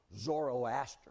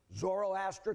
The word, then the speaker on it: Zoroaster: a prophet in Persia named zoroaster of course that's the Greek pronunciation his name was really zarathustra but he had taught